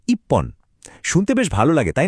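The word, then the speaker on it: 一本: কিন্তু এখানে একটা মজা আছে, সংখ্যার সাথে এর উচ্চারণটা একটু পাল্টে যায়। তাই একটা ছাতার জন্য ইচিহোন না বলে ওরা বলে ইপ্পন।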